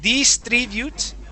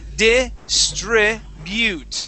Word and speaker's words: distribute: we want to say distribute. Distribute. Distribute. Distribute. Okay. So, so the trick with some of the U sounds in English is that we stick a Spanish I in front of that U.